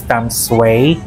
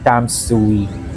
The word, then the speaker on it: Tamsui: nga pala guys narinig ko kanina sa train station na ang pronunciation ng lugar na ito is Tamsway not Tamsui.